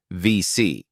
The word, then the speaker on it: WC: and is pronounced as VC, a shortened version of double VC, reflecting the French pronunciation of the letter W.